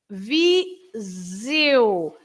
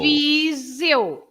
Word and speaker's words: Viseu: The S between the two vowels, the I and the E, becomes a Z sound, right? Okay. And then the E and the U, it's like when you say I. How do you say I? L. Ew. So it's exactly the same. It's exactly the same sound.